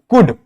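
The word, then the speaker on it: could: case में आता है for example कुड वुड शुड ये कुछ ऐसे वर्ड्स है जहां पर एल क्या होता है साइलेंट होता है लेकिन कुछ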